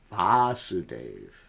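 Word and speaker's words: Vāsudeva: is vasudeva got it in other words it's the same spelling but with a short a in the beginning and the name of Krishna is vasudeva along a whole prevailing vasudev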